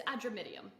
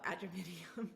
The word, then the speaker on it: Adramyttium: And it's Adramyttium. Oh, Adramyttium.